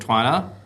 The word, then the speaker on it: Twi: the company is called Twi um yeah t w uh there's no right or wrong way to pronounce it uh it's an African word it's a rock well